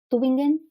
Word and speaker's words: Tübingen: Actualmente es profe de español como lengua extranjera en la Universidad Tübingen. ¿Sí pronuncio bien? Tübingen.